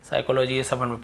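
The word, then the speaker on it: psychology: यहां पे केवल तो एस से पहले यदि पी है तो हमें उसको नहीं पढ़ना है क्लियर हो गया साइकोलॉजी अब एस के बाद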